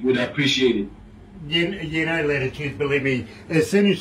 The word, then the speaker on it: L'titude: It's Latitude, L with an apostrophe T-I-T-U-D-E, because remember, an apostrophe is always representing a silent letter somewhere there. So yes, it's Latitude, you know.